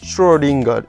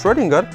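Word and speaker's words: Schrödinger: see that there is there are two dots on top of o this is called o uml out and it is pronounced as if it is o e so s-c-h-r-o-e story lingard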